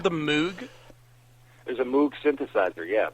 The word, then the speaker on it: Moog: Is it really called the Moog? There's a Moog synthesizer, yeah. Bob Okay, Moog. because, see, I had already pronounced it as Moog because of Andy Moog, the former Dallas Stars goalie.